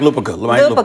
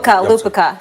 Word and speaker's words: Lupica: Mike Lupica. Lupica. Sorry for pronouncing that wrong.